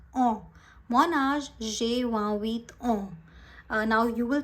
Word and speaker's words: ans: Okay, so you will not say ants, you will not say answer. This is mon âge, j'ai 28 ans.